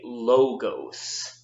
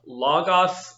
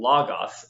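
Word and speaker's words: λόγος: now it's really important that you don't say logos can't drives greek guy's nuts window and non-greek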